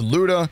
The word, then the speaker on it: Lyuda: I'm not sure how to pronounce this. I've been told by Russian viewers that it's Lyuda, but I've always said Lyuda, so I'm going with Lyuda.